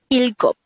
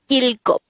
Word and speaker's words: 일곱: Next, the native Korean version of number 7 is ilgop. Again, ilgop. This is pronounced as a two-syllable word. The first syllable is il, the second syllable is gop.